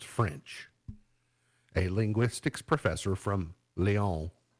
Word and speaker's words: Lyon: A linguistics professor from Lyon, see, I speak French, I said that correctly, Lyon, points out that the English language uses thousands of words taken from French about 1,000 years ago.